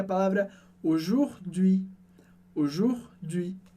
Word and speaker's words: aujourd'hui: Aujourd'hui. E aujourd'hui parece um palavrão, uma palavra bem longa, mas foca na pronúncia que é super simples.